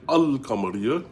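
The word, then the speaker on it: القمرية: al kamaria kamaria because when they say kamar which means moon, they say al kamaria, you pronounce the lamb.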